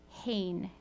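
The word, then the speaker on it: חן: the old testament hebrew word for grace is pronounced hain c-h-e-n but it's pronounced hain and it means favor and so that makes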